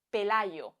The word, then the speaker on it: Pelayo: Este es el sonido que hacemos muchísimos hispanohablantes para pronunciar la Y que hay entre dos vocales. Pelayo.